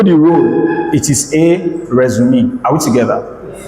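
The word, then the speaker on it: résumé: So it's a French word anyway. So that's some people do not know that it's pronounced resume. I think it's resume.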